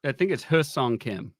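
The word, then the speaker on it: Hyeseong Kim: I think it's Husong Kim. That's how they pronounced it on the first spring training Dodgers broadcast. They said the Y is silent.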